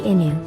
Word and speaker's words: inu: a japanese dog especially when it comes to how to read the dog part in fact it doesn't matter whether you read it as in you or can it's all correct however the official pronunciation of akita and shiva inu seems to be inu even the japanese don't